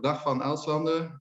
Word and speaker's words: Dag Van Elslande: help us with your name hello i'm dr dahfan alzander i'm from belgium and yeah my name is not so easy to pronounce okay so are you a do you